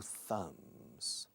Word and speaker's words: thumb: 8 fingers and 2 thumbs. Se escribe tumba, TH al principio, B muda al final. La TH, como casi siempre, es th, un ceceo, como en castellano.